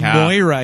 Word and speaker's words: Moira: It's actually Moira. It's Moira. Gwyneth says Moira. Maggie Smith says Moira. It's in the credits as Moira.